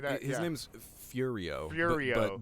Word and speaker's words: Furio: name's Furio. Furio. but they pronounce it Fudio.